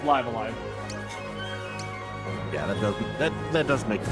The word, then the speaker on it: Live A Live: It's pronounced Live Alive.